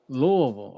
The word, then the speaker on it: Louisville: Louisville.